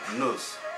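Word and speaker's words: Gnuse: Also, the 2011 Guinness Book of World Records featured Miss Julia Nose. Nose is spelled G-N-U-S-E, as the world's most tattooed person.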